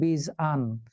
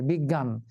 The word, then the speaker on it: বিজ্ঞান: এখন জ উচ্চারণ করি তাহলে তো উচ্চারণ হবে বীজ আন। কিন্তু বিজান তো নয় বিজ্ঞান। তার মানে জ এখানে গ এর মত উচ্চারিত হয়ে গেল।